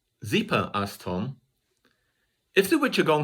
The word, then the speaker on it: Zeepa: to say it again it sounded like zipa not exactly but if you were to spell it in english it would be close to this zipa asked tom if the